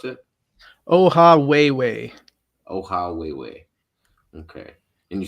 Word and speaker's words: Ohawhewhe: But how do you pronounce it? Ohawhewhe.